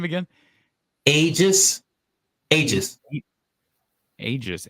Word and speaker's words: Aegis: do you say that get that name again ages ages ages how do you spell it a e g i s that's your